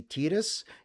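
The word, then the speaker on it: Tidus: Um, so I'm going to keep calling him Titus because if you wanted him to be Tetus, you you spell it better, but you spelled Titus, so we're going to call him Titus.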